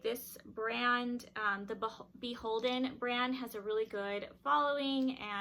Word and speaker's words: BHLDN: let me know that the brand is actually pronounced beholden i'll kind of write it out in quotations on the screen so the brand is actually pronounced beholden it and it is an anthropology brand it